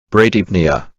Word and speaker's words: bradypnea: PNEA, 이 용어도 PN으로 시작된 것 아닌가요? 그래서 P가 묵음 아닌가요? 라고 하실 수 있겠지만 풉니아는 전미사입니다. 즉, 단독으로 사용되는 용어가 아니라는 거죠. 그래서 P가 묵음이 아니죠.